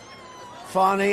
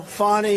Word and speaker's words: Fani: cases like funny funny it's spelled Fanny it spelled Fanny like your ass right Fanny but when she became da she decided to add a little French little fancy fny fonny and you know fonny